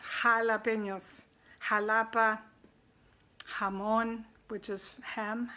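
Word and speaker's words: jalapeños: j is called Hotah in spanish and it's pronounced half like a kind of girls aha jalapenos jalapenos Halabi hamoon which is ham come on okay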